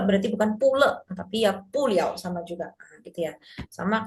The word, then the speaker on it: 了: Jadi le itu bisa dibaca liau juga ya. Dia kalau misalkan di 嗯，belakangnya te itu dibacanya liau. 有，就是，Main keyboard. Oke. Nah, verb ditambah ini jadi bukan te le tapi te liau. Jadi kalau di belakangnya te ini tuh pasti dibacanya liau.